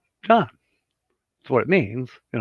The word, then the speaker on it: Jan: You know, it's not Jane, it's John.